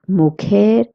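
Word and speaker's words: mujer: The next word is moer and esposa. It means wife. Please remember that j in Spanish is pronounced as her. That's why we're saying mo.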